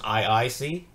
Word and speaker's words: I2C: and it is pronounced I squared C I know it's spelled i2c but the two stands for another eye so it's I squared C that's how it's usually